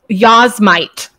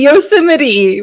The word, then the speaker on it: Yosemite: pronunciation is abysmal um yazmite I thought it was yasmite national park for literally like 25 years of my life I was like what had no idea why would it be Yosemite why I'm I'm really excited